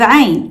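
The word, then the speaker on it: عين: Next, we have AIN, which is another sound unique to Arabic. It's made at the back of your throat. Imagine making a sound while gently squeezing your throat. Kind of like when the muscles in your throat tighten as you swallow food.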